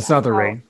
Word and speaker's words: misothery: Misothery.